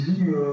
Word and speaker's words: Lyme: Ça se dit Lim, Morgane, que ça se dit Lim. Voilà, ça me fait penser à la maladie de. Ouais, la maladie de Lyme, c'est pareil, ça s'écrit pareil. C'est écrit pareil.